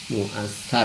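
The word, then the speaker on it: مؤثَّر: Wa amil infial fahuwal hayatul hasilatu min ta'siril mu'assar ya. Mu'assar min ta'siril mu'assar. Kalau ini ta'siril mu'assir ya. Dan ini tulisannya sama tapi bacanya beda ya. Karena artinya beda.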